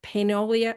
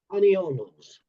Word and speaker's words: paniolos: And Rod did that with the Cheyenne Frontier Days story about I never say it right, Rod, the Paneolia. How do you say it? Paniolos. Paniolos.